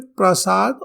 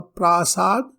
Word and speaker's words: प्रासाद: और यहाँ पर दो और शब्द देखें, प्रसाद और प्रासाद। प्रसाद यानी कृपा होता है, प्रासाद यानी महल रहने का स्थान होता है। तो सिर्फ अ के गलत उच्चारण मात्र से अर्थ में परिवर्तन आ जाता है।